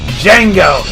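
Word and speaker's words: Django: strollers 271 to 239 Jengo the D is silent losing to the hopkinton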